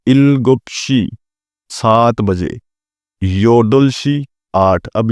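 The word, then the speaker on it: 여덟: आगे है इल्गुपशी 7:00 बजे योदुलशी आठ अब यहां पर है योदल इसको आपने बी यहां पर साइलेंट है इसको आपने पढ़ना है योदुल रल की आवाज देगा योदलशी 8:00 बजे आहुबशी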